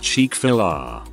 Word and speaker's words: Chick-fil-A: Up until about a month ago I thought Chick-fil-A was pronounced Chick-fil-A. When someone pronounced it correctly I literally slapped my forehead, of course, as in fillet.